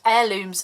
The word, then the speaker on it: heirlooms: have my woven heirloom heirlooms I keep wanting to pronounce that H it's ridiculous wherever the heirlooms stamp set